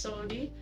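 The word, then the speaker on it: saudade: when it said, I wasn't sure how to pronounce the term for it, which is like sodade. It's something. Yes, oh yeah, that's Sodi, which is like profound melancholy.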